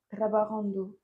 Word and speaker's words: trabajando: Estaba, trabajando. très bien, attention à la prononciation, trabajando. Trabajando.